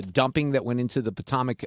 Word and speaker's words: Potomac: Did you hear about all the dumping that went into the Potomac? How do you say that? Potomac. Sorry. Potomac. Why could I not pronounce that?